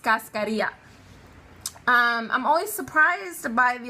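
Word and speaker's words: cascarilla: I ll a fantastic know that it's pronounced Cascadia I'm always surprised by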